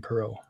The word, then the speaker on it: Perot: to it it's better but there is a pronunciation guide available to those that need it from mr. Graham Perot that's pero yeah sorry but no no we're